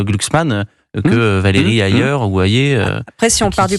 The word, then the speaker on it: Hayer: que Valérie ailleurs ou Ayé. Après, si on part du principe que... Vous avez dit que ça s'écrit H-A-Y-E-R, mais ça se prononce Ayé.